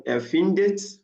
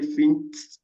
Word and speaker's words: findet: Then findet, I cannot say fint, this will be difficult to pronounce. Fint, another like 2T. Is separated by putting E there. Erfindet, erfindet is correct to say, not erfindet, erfindet, like 2T's. Please, it is totally wrong.